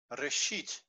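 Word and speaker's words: ראשית: Aleph is silent at the end of a word, of a syllable, and the vowel before it is long. Reshit, over here.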